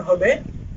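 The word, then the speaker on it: who: হয়নি একই রকম ভাবে ডব্লিউ এইচ ও হু এই ক্ষেত্রেও ডব্লিউ এর উচ্চারণ হয়নি তিন নাম্বার নিয়মটি হচ্ছে শব্দের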